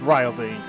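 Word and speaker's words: Riovanes: Why are we pronouncing like that? It's Rio veins. Come on. or even Rio veins if you're feeling fancy. Rioanes, what does Grand Juke Barington have to do with this?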